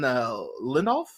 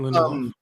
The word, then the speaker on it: Lindelof: I had the showrunner, Damon Lindelof, I think that's how you say it. Yeah, Damon Lindelof.